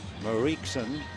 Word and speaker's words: Mariekson: It's Marie with K-S-O-N at the end of it. Mariekson Julius Gregorius, better known as Didi.